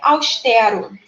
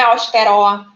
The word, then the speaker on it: austero: Então, é austero. Não é austeró. Austero, é austero, sendo ali o T a nossa sílaba tônica, porque ela é uma palavra paroxítona.